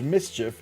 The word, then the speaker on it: MSCHF: MSCHF, pronounced mischief, is sneakily selling Chick-fil-A on Sundays.